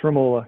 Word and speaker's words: Ramola: um uh is it it's pronounced ramallah right or yes ramola yeah ramola okay and it's